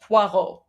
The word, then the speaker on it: Poirot: It is French, so French would be pronounced Poirot.